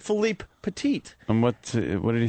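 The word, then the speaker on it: Philippe Petit: he he he corrected me most people say Philip petite so I purposely was trying to say his name right so I said Philipe petite and what what did he say when he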